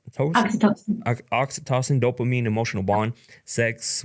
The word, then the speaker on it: Oxytocin: Oxytocin. Oxytocin.